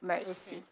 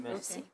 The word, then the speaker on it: Mersea: And then I just changed the spelling to MERSEA, Mercy. Like the sea. Though vocabulary, the pronunciation is meant to be Mercia, but I said I still want that pronunciation, Mercy.